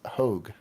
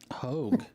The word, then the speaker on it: Hogg: Ironically, I have an uncle with the same name, but it's not that David Hogg. It's pronounced Hogue. Hogue.